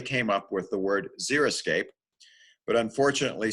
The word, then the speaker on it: xeriscape: word xeriscape but unfortunately so many people mispronounce it as i'm gonna go out and zero scape my yard well as you can see there's a zero zero scape on your screen and that's not the way to go either because